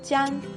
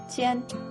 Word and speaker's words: jian: Then JI + YI + AN makes JIAN. Not John, but JIAN.